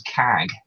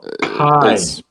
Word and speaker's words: Kaj: I thought it said in the chat it was CAG. No, Kai. It's spelled Kaj, but it's said Kai.